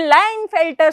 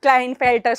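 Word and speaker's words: Klinefelter: से होता है फिर लाइन फेल्टर syndrome it's नॉट क्लाइन फेल्टर syndrome लाइन फेल्टर syndrome होता है के यहां पर साइलेंट है ये किसकी वजह से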